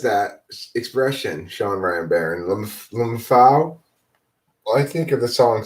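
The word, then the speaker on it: LMFAO: Lumfao. Lumfao. Lumfao. Lumfao. Lumfao. That's how you pronounce it.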